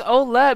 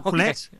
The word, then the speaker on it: Ouellet: right now, a former WWE Divas champion, Maryse Ouellet. Maryse, how's it going? I love how you say my last name. Did I say it right? No, but that's kind of cute, though. Oh, Ouellet.